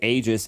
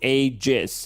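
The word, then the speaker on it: Aegis: when we were pronouncing agis Aus so ice frog said it is pronounced ages and that's it so we might get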